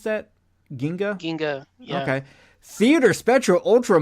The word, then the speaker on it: Ginga: things of note Ultraman Ginga is how you pronounce that Ginga Ginga okay theater spectral ultra monster hero battle